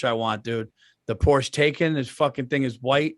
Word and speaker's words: Taycan: Taycan. Taycan. Andrew, can you pull that up? I thought you were saying Taken, like taken.